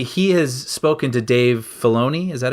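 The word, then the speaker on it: Filoni: And he was saying not even just in that, but apparently he has spoken to Dave Fona.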